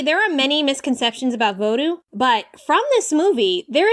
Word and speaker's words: vodou: As I've said here, the more appropriate pronunciation for voodoo is vodou.